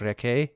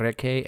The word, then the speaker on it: Rekke: Reca, I guess, is actually how his name is pronounced now that I'm actually reading it on the Pillars of Eternity fandom.